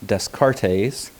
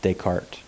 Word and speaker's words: Descartes: and so you might be tempted to say descartes but it's actually pronounced descartes now descartes is very famous for a lot